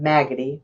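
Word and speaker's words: Maggody: her home town of maggoty rhymes with raggedy arkansas as the first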